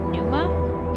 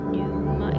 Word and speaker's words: Pneuma: It's called um I guess it's pronounced Numa. P N E U M A. Numa.